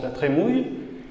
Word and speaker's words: La Trémoille: qui s'appelle Louis de la Trémouille. Ça s'écrit la Trémoille, mais ça se prononce la Trémouille.